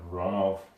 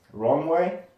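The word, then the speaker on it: Ronove: I'm gonna go with the pronunciation of Ronov. Ronov, also Ronway, is a Marquis of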